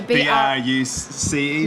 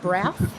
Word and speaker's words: Brous: last name but um pronounced bruce not or brow i was i was giving it brows for a while oh